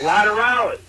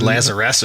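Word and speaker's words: Lateralus: Chris, you fucking butchered that name. It's Lateralis. Lateralis. Like Tool. All right, bye. I used an L at least, I think. I said Lazarus or something.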